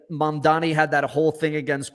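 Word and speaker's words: Mamdani: in the New York City mayoral debate, like Mom Donnie had that whole thing against Cuomo where he's like, "And my name is actually pronounced Mom Donnie."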